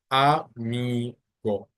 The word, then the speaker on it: amigo: So first you have mi, go. So it ends with a O. So the general rule is that the stress should be on the second part. So that's why you say amigo.